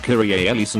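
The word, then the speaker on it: Kyrie eleison: best friends got matching tattoos that say it's pronounced kyrie ellison and an ancient greek means lord have mercy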